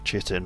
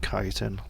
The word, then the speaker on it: chitin: strange and I realized I'm pronouncing chitin wrong it's actually kiten but I don't care